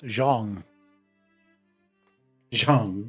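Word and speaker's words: Zhang: So fun thing about Chinese. That's Jeang Jang if you want to say it correctly.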